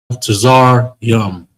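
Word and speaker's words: מצרים: Tazar. You got a ra. You got a ya. And you got the ending ma. Again, that's a regular ma. Then you want to end it. I don't like how that look. Start again. You want to close it all the way off. Boom. Matazar yum. Matazar yum. Egyptians.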